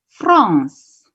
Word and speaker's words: France: Jadi bacanya bukan French ya. Bacanya negara Prancis itu France. Ya. La France. Jadi kalau kalian ketemu ada huruf CE di belakang, bacanya itu ngeses ya. La France. Ya. Seperti conference. Ya, bacanya negaranya La France.